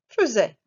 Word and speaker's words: faisaient: il est le pluriel faisaient again je tue elle est il plurielle c'est la même prononciation la prononciation c'est faisait maintenant on va conjuguer